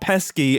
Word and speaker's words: pesce: and I'm going to call it the pesky bird, but pesky is spelled P E S C E.